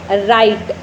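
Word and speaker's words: right: हो जाती है और एग्जांपल राइट आर आई जी ह टी वैसे तो जी ह है तो हमें उसको बोलना चाहिए लेकिन उससे पहले क्या है हमारे पास वाल्व है वूल क्या है आई तो आई दे रखा है तो इस वजह से जो ग है वो साइलेंट हो गया तो इसलिए इसके क्या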